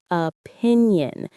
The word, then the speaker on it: opinion: Polarize opinion. The stress is on the first syllable of polarize and the second of opinion.